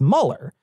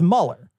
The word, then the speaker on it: Mueller: i mean it's written like mueller but it's mueller is how it's actually pronounced i literally didn't know that i've only